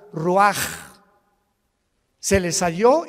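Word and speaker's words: רוח: Roach así como suena se pronuncia la c en hebreo como J raj se le só y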